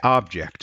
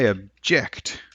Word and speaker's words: object: one that is the object and you stress the first syllable okay but when it's a verb when the lawyer says I object that's where the stress